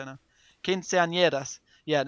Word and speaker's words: quinceañera: I think it's called the quinceañero. I've forgotten how to say it now. Quinceañeras.